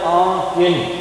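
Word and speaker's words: آنکہ: باعث تحریر آنکھ کے، یہ آنکھ کا نہیں ہوتا ہے، کچھ لوگ اس کو آنکھ کا پڑھتے ہیں غلطی کی وجہ سے، یہ فارسی کا لفظ ہے، اس کا تلفظ ہوتا ہے آنکھ کے، جس طریقے سے کیوں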